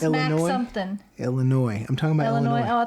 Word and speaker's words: Illinois: so um and it's Illinois Illinois there's no the s is silent get it right it's